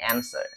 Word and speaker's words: answer: bacanya bukan unsware answersweare w-nya juga enggak dianggap jadi answer answer answer atau bisa kalian pakainya answer answer oke yang penting huruf w-nya enggak usah dibaca nah yang